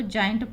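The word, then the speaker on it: giant: आई ए एन टी, आई का उच्चारण आई, तो इसको जाइंट पढ़ते हैं, जिंट नहीं पढ़ेंगे, जाइंट, जर्म, जिमनास्ट, जी के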